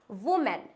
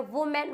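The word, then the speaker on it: women: हैं अब आता है वुमेन क्या होता है वूमेन मतलब फीमेल्स तो इसको वूमेन ना बोल के हम क्या बोलते हैं इट्स वीमेन क्या होता है वीमेन नॉट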